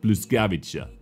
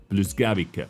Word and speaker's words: Błyskawica: If I'm not mistaken, guys, this is how you pronounce it, Błyskawica, Błyskawica, Błyskawica, something like that, because I remember there was a ship named like that in World of Warships.